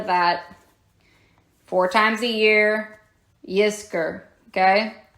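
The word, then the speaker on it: Yizkor: times a year in the Jewish faith is Yer remember that four times a year Yer okay y i z k o r all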